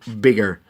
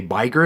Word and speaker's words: bigger: er and we go bigger. Don't forget about that extra g. Also look at the way otherwise it would be pronounced. We would say biger instead of bigger, so we have to add that extra g here.